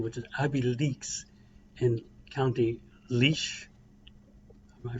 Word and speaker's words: Laois: is Abbeyleix in County Laois. Am I pronouncing that right? Yeah. I know when you read it, it doesn't sound anything like Laois. It sounds like Laos or something.